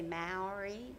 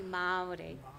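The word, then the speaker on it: Māori: the mai Renaissance and I say m I think you guys say Mari or something like that it's actually pronounced properly Mari uh and we found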